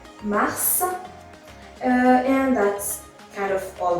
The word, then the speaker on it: mars: So you're going to say that the S is silent at the end of the word.